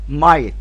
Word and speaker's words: might: اقول وتقولهم ورايا، هسكت سكته بسيطه، will would shall should can could may might. الجي اتش هنا ايه؟ خلي بالنا سايلنت.